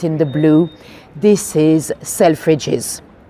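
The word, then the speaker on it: Selfridges: the blue this is selfes selfes with no apostrophe uh it is spelled with um with the S no apostrophe it's one of our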